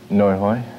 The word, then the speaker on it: Nguoi Hay: for the play and pronounce it for me again no hoy which means wasted and